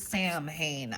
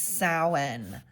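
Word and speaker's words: Samhain: It looks like it says Sam Hayne. I never can. I always pronounced it wrong, but thanks for the pronunci. It's Sen.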